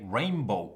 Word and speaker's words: rainbow: true I believe that even though rainbow is spelled with a B most of us very fluent English speakers say rainbow with an M because it's easier to say it's true so confusing